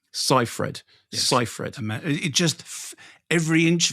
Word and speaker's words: Seyfried: How she pronounces it? Amanda right said Fred. So, Seyfried. It's Seyfried. Seyfried.